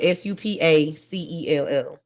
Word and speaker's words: Supacell: Supercell, and it's spelled Supacell. So Supercell, not super. It's super. Oh, hey, I just spell super. No, it's not super. It's super. Supa cell. Cell.